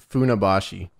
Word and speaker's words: Funabashi: I don't know how to pronounce this place, James. Not the C. Just Funabashi.